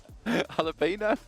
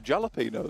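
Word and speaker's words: jalapeño: is a a alapo jalapeno well no you got to say it as it's spelled come on otherwise it's not as funny that's a jalapeno though yeah that's a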